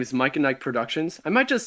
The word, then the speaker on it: MicahNike: uh my name is mike and nike productions i might just spell it spell that out it's like mike yeah oh it's m-i-c-a-h-n-i-k-e productions